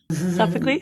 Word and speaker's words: Sophocles: Sophocles.